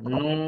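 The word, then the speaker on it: نون: এখন খেয়াল করেন চার আলিফ টান দিয়ে পড়েন নুন নুন উচ্চারণের সময় ঠোঁটটা একটু গোল করে দিতে হবে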